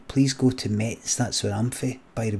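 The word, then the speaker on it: Metz: Please go to Mets. That's where I'm by the way. It's pronounced mess.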